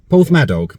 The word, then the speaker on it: Porthmadog: Porthmadog, that's it.